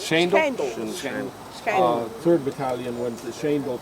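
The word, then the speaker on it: Schijndel: The 3rd Battalion went to, how is that pronounced? Schendel? Schendel.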